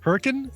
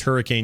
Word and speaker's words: Hurricane: Ranch what's his name uh wford brim yes Hurrican is how it's pronounced Hurrican they don't everyone thinks it's Hurricane Utah but it's not it's Hurricane Utah you